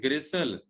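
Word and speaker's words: gristle: ये बेटे वर्ड है ग्रिसल, टी इसमें साइलेंट है।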